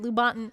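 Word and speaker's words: Lubaantun: to say that at Lubonton, I said it right again, Lubonton, I'm getting better at it.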